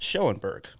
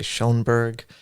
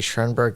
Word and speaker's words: Schoenberg: lot of people say shonberg but I I say shurg which is almost German